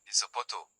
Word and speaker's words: zapato: Z Z is pronounced like th in Spain, zapato, and like s in Latin America.